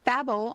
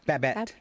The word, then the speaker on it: Babette: And um Babel on Gilmore Girls. Is that how you say it? Babette.